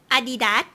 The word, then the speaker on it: Adidas: I pronounce in in Thai it's Adidas. Like, I pronounce the way she pronounced it, it's like in Spanish a little bit.